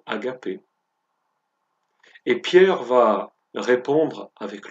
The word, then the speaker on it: agapé: verbe qui en grec se traduit, se prononce agapé.